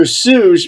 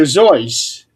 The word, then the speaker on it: Seuss: Everybody pronounces his name as Dr. Seuss, but is really Dr. Zois.